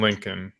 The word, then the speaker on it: Lincoln: Why do you not pronounce the last L on Lincoln?